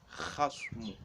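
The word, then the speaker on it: خصم: Okay, so if you pronounce ka for this, the person is not going to understand what you're trying to say, but you need to pronounce it as khasmu, khasmu, khasmu. Okay, khasmu. So you need to pronounce,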